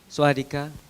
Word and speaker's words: สวัสดีค่ะ: สวัสดีค่ะ Swadika.